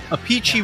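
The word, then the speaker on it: Appice: kit well and and their sister pronounces it a peachy so there's three yeah a peachy would be the proper Italian way but obviously when you move to America all the pronunciations change more so Americans you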